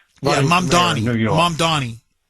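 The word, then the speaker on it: Mamdani: Mom Donnie. New York. Mom Donnie. M Donnie.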